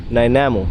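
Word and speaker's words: Nanaimo: Then I was like, we need to make another trip and we came to Namo if that's how you say it or Nimo. Naimo. Nimo is the right word.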